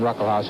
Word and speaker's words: Ruckelshaus: The first S in his name is pronounced, it's silent. William Ruckelshaus, who's the majority leader, he's just 35 years old.